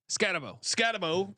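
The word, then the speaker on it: Skattebo: How do you pronounce Skatebo? Scatabo.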